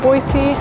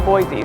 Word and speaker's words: Boise: say boise locals say boise other people say a boise so if you want to look like a tourist definitely say it with a z but otherwise it's pronounced with an s boise idaho is so